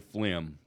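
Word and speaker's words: phlegm: me the most is the word flim I mean spell it it okay spell fim p h l e e g m so first of all you got the pH why is it not an F why is it not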